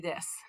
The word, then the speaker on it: desu: Hai, gakusei desu. And again, that u on the end of desu, that's a voiceless vowel. Don't pronounce that u.